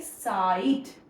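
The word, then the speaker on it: site: बट यहां पे हम क्या पढ़ेंगे? साइट। साइड because there is a magic E with that.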